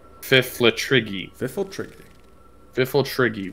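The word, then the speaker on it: Pfifltriggi: Le triggy FIFA trigger fifultal triggy which actually starts with a P that's why I needed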